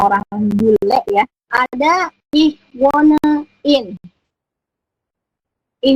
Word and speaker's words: wohne: Frau, Bu Sofa, kok H-nya tidak dibaca? Kenapa bunyinya tidak ich wohne? Tapi kok bacanya ich wohne. Jadi di situ ada huruf H di tengah. Jadi huruf H di tengah ini nanti tidak terbaca, tapi panjangin huruf O-nya.